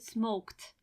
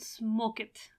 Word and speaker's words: smoked: just add D smoked and you pronounce it smoked lift smoked I hope you paid attention it is not live it it is not smoke it or something like that you don't pronounce it as it you pronounce it as smoked lived arrived asked in